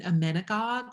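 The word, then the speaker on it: emmenagogue: category we can also call it um an amenigog which is the word that we use a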